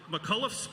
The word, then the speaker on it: McCullough's: I'm going to take a moment to impress our hometown audience here and pronounce this pub correctly. McCullough's Pub in Racine is home for live and original music all over the world.